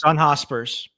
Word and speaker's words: John Hospers: of you sure but John hoser is that what you say his name is John Hospers yep John Hospers like he didn't make